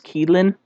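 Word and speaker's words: qilin: for the pronunciation but the kieran yeah okay uh chinese word for it is kielin uh kieran is japanese but yeah okay but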